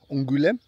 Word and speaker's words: Angoulême: Then we need to go to Angoulême. Did I pronounce that right? Angoulême. Apparently I need to have more emphasis on the goût. Angoulême.